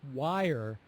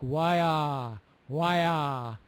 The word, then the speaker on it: wire: that that you pronounced wire much better the second time the first time you didn't hit the North American R sound very well it was more like why why and it needs to be wire wire you